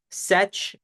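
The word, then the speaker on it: sech: function which is pronounced set of X it rhymes with like Fetch and this is the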